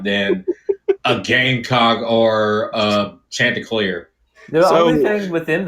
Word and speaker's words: Chanticleer: Chanticleer. It's French.